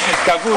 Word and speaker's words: Capurso: Capurso. Ho sbagliato l'accento. No, è giusto.